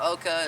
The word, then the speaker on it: Oca: Ugo this is how you say it where Oka is OCA it's oxa tuberos it's kind of